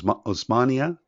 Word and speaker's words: Osmania: went on to is it omaz o OS osmania University am I pronouncing that correctly yes that's it's actually the